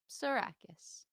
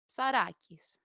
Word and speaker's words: Psarakis: How do you pronounce Psarakis? Just like that. Psarakis. Psarakis, if you're being Greek.